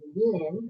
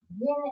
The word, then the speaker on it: yin: So here we're mixing an elixir of yin, rhymes with shin, yin energy.